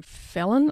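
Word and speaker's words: Phelan: by michelle lee um felon i think you pronounce her name it's p-h-e-l-a-n she is also another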